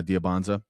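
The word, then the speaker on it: Dybantsa: How do you say his last name? Budabati. Like Danza. Dyan. Diabanza. Yeah. Diabanza. So he's at BYU.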